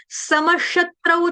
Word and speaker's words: समशत्रौ: म के आगे विसर्ग, विसर्ग का उच्चारण करेंगे हलंत श, आधे श शरबत वाले से।